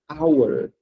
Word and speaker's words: hour: Esse H da palavra ora, ele é mudo. Mudo. Então significa que como ele é mudo, o som dessa palavra vai ser hour.